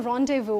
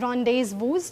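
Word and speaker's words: rendezvous: उस वर्ड को हम बोलते हैं रोंडेवू। अगर आपने कभी सुना हो तो। सो रोंडेवू। रोंडेव। यस। तो उसका उसकी जो स्पेलिंग है इट इज आर इ एन डी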